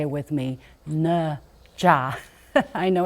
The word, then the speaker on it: Ne Zha: probably heard of him yes his name is nja say it with me nja I know it's difficult to pronounce but it's possible the it's a mythical